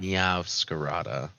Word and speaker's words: Meowscarada: How do you pronounce it? Meow Scarata. It's a Pokemon. Meowscarada.